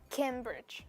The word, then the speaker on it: Cambridge: Cambridge Cambridge Cambridge Cambridge okay listen carefully is it Cambridge or Cambridge Cambridge the first syllable yeah very good so